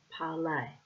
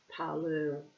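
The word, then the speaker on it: Parler: Um I will share my writings on parlay parlor. Will I pronounce it the French way?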